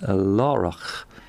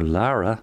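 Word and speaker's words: Laragh: at saint kevin's in laura is how i would pronounce it or lara maybe as others might l-a-r-a-g-h and that's in glendalough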